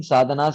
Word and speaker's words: साधना: Proji, I've heard many times in other lectures that that this word sadhana, that is pronounced as sadhan, especially when somebody speaks in Hindi.